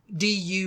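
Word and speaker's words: dubh: she's the son of black really do D du BH in GIC means black so MDU son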